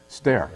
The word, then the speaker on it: Stoehr: I have Stoehr. Is that how you pronounce it? It's pronounced Stoehr. Stoehr.